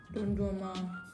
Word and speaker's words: Dondurma: Tja, Eis heißt Dondurma. So, ja, sag's mal. Dondurma. Das sag du, du sollst lernen. Don Durma. Fast Aussprache, aber sonst eigentlich gut.